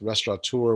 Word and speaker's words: restaurateur: It's spelled out hashtag, and then it's restaurateur with no N.